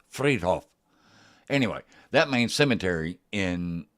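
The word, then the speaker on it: Friedhof: Hof Hof fried Hof but that's not the way it's pronunciated it's Fred Hoff anyway that means Cemetery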